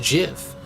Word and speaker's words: GIF: those videos are great it's pronounced GIF like the peanut butter that's dumb it stands